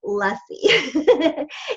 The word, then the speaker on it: Luesse: In case you're wanting to look her up, you can find it, but it's pronounced Luesse.